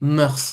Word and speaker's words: mœurs: Cœur Murse, c'est la même chose. Ah mais on prononce S à la fin. Ici oui ici. Oui. Mot qu'on utilise qu'on utilise seulement au pluriel. les mœurs les bonnes murces les les voilà les